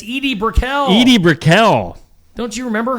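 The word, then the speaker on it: Edie Brickell: uh Eddie brickl singer no what brel it's Edie Briel Edie Briel don't you remember her no she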